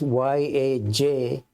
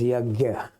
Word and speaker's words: yajna: as sacrifice, written as Y-A-J-N-A, N with an umlaut on top. In South India, it gets pronounced as yajna. In North India, as yagya. So, but it's the same word.